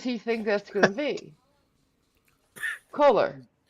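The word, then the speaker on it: Kolar: to pronounce the name it's k-o-l-a-r color how else does he think that's gonna be color it's not one of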